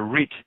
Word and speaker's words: writ: skin is bringing the RIT the summons to court and a writ also has writ is spelled wri t and the W is silent so it's it's a